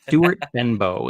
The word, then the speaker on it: Stuart Benbow: Stuart Benbow is how it's pronounced.